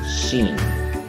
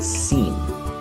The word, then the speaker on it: seen: Okay, for example, the word seen, you say sheen, besh. Okay, so it's supposed to be seen.